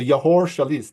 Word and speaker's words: Yehor Shelest: I was going to ask him how he pronounces his name, but I think I got it right. So Yehor Shelest.